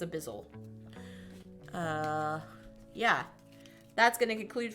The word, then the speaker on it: Abyssal: Abysmal Depths. I can never say it right. Abyssal Depths. Yeah, I think it's Abyssal.